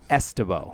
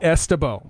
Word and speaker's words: Ystebo: The Y is pronounced like an E. Yeah, so Ystebo. Ystebo.